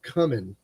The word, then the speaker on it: cumin: Mexican kick we had cumin or cumin as some of you pronounce it that's fine that's okay in my ears I don't really care just add little bits